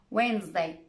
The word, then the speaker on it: Wednesday: about the letter d it can be silent too wednesday sandwich handsome i'm not pronouncing the d i'm not saying sandwich i'm just pronouncing the consonant and sound before it try it with me